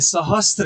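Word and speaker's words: सहस्र: सहस्त्र लिखा हुआ है, इसे यदि हम सहस्त्र बोल रहे हैं तो हम गलती कर रहे हैं। सहस्त्र तो है ही नहीं, तो है ही नहीं इसमें, इसलिए तो का उच्चारण नहीं होना चाहिए।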